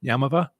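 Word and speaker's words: Yaamava': definition on google but somebody told me the phonetic uh pronunciation yamava and so i'm just going with that i play all the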